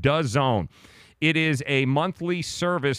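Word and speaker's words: DAZN: know what this is Daz and it's called the zone that's how it's pronounced does add as and we're gonna fight good job Joe Dassin pronounced does own it is a monthly service streaming service for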